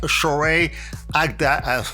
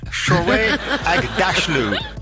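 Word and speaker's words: Shohreh Aghdashloo: I've got to highlight some people like Shorey Agda. I always get her name wrong. Shorey Agdalashu. Oh my gosh. I rehearsed this earlier on and it was right. Shorey Agdashlu.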